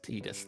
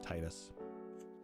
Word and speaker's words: Tidus: of it and uh they pronounced it as tidus there i still like titus i'll recognize either honestly yeah i think it's it's a tomato tomato thing but yes the story